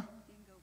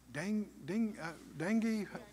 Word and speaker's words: dengue: Dingo fever. What's the name of it? Dingo fever. That's not... yeah, how do you say that? Yeah, that's dengue, huh?